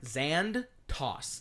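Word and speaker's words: Zandtos: was how did you say his name again xand toss z a n d T oos gotcha xand toss so uh do you mind if I go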